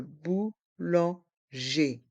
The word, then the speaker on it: boulanger: le boulanger le bouanger les deux dernières lettres le E et le r se prononce e le boulanger le boulanger une baguette